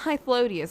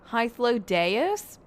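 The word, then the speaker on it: Hythlodaeus: I guess I'll look at it's not Hythlodius, it's Hythlodeus?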